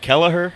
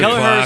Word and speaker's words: Kelleher: it Kelleher? How do you say this man's Kelleher.